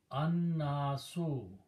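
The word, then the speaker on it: الناس: So you put pronounce noon twice, don't pronounce lam. Annaso.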